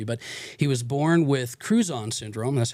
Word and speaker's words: Crouzon: But he was born with Crouzon syndrome. That's how you pronounce it, right?